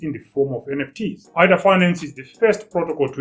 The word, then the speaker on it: AADA.Finance: We're going to pronounce it as ADDA.Finance.